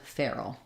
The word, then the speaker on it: Farrel: sound a monophthong and this is the same pronunciation feral as in Wild like a feral animal and the name feral once you can say